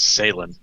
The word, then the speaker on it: Salen: Let everybody know my first name is pronounced Salen. Sailing? Okay. Yeah, like say land. Put together, Salen.